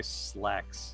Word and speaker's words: Sislax: I just say slacks.